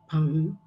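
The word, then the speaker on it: パン: This is pang, pang.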